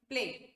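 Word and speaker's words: plague: फिर हम लोग पढ़ेंगे प्लेग, प्लाक नहीं, प्लेग. प्लाक तो डेंटल प्रॉब्लम है और प्लेग इसका प्रोनाउंसिएशन होना चाहिए, ठीक है.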